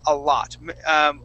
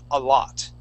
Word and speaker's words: a lot: All right, so the word a lot. Make sure when you're pronouncing that word that O makes an ah sound. A lot.